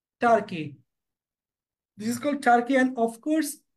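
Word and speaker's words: Turkey: Russia this is Russia this is নট তুর্কি অর তুর্কি this is call টার্কি this is call টার্কি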